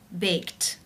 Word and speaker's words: baked: The final sound of the verb in the infinitive form to bake is the k sound. It's unvoiced. Therefore, the ed is pronounced t, unvoiced with the t sound. Baked, baked.